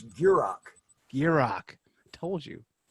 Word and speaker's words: Gierach: last name its burek be rock told you just picture in your mind a gear and rock I got it now